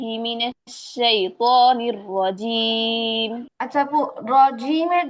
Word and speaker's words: رجيم: আচ্ছা আপু, রজিমের জিমটা আরেকটু ক্লিয়ার হবে, মাখরাজটা আরেকটু ভালো করে সেট আপ হবে। রজিম, রজিম। رجيم. এটা আরেকটু ট্রাই করতে হবে, এটা আরেকটু ট্রাই করতে হবে যেন পরিপূর্ণ মাখরাজ থেকে হয়। জিহ্বার মাঝখানটাই তালু বরাবর লাগবে।